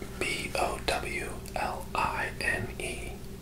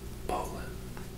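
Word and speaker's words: bowline: B O W L I N E. It looks like it might be pronounced bow line, but it is said Poland.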